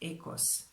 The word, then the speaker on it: oikos: And the other dimension is oikos. Greek told me that this is pronounced ekos.